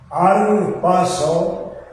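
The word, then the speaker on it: harpazo: Arpazo y se pronuncia arpazo. Escribe con hice sin h. Aparte de que es sincronización, la H es muda, como conocemos, bien arpazo.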